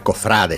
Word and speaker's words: cofrade: ¿Cfrade o cofrade? Sí, lo vi de las dos maneras en los últimos días, ¿eh? Y la palabra es cofrade, sin tilde, con pronunciación grave o llana, es un sustantivo que